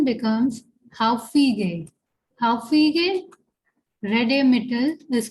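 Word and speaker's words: häufige: Haufige Redemittel. Okay. And here A is the first umlaut, that is A umlaut. So the pronunciation becomes Haufige.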